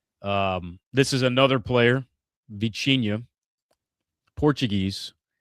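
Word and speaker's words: Vitinha: Um, this is another player, Vichia. Portuguese. That's how they pronounce it. Vicha. Yeah. So, the T has a little ch in like Yeah. Oh, yeah. Yeah. Portuguese is like a ch.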